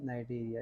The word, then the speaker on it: Cnidaria: So this is phylum नाइडेरिया। यहाँ पर सी मेरे पास है लेकिन वो साइलेंट है।